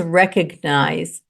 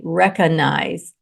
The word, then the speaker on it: recognize: The word is recognize, but people say recognize. Recognize is incorrect. The correct way to say it is recognize. Recognize. You say the G in the middle of the word. Not recognize, recognize.